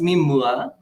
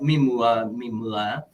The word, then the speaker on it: MeMua: But it's pronounced Mimua, but Mimua. It's a combination of two words, mi and mua.